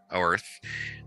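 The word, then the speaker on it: Oerth: that's well prized um amongst uh in in Earth or oath oath is how it's pronounced in oath um even though it sounds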